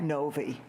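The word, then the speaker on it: Novy: My last name is spelled N-O-V-Y, Novi.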